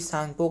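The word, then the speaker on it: Tsangpo: तिब्बत में जो कि सांगपो कहा जाता है। है ना? टी जो कि रहे टी मतलब जो कि साइलेंट वर्ड है। साइलेंट रेटर है।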